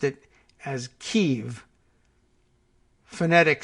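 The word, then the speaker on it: Kyiv: great audience we have Kiev Russian pronunciation keeve Ukrainian pronunciation preferred right Ukrainians well we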